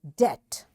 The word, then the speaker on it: debt: This letter T makes this B silent and we don't say it and we say debt.